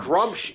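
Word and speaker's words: Gruumsh: And Grumsh is a Grumsh, yes. Grumsh, if you want to say his name properly.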